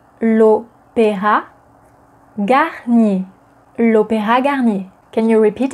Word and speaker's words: L'Opéra Garnier: So, opéra is a masculine noun in French, and as it begins with a vowel, the definite article that would precede it is l, not le, but l. L'opéra. L'opéra Garnier. So what about the Opéra